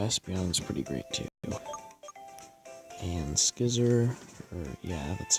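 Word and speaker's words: Scyther: And Skizzer, that's how you say it.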